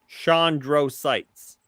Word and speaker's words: chondrocytes: Chondrocytes. That's how you pronounce it.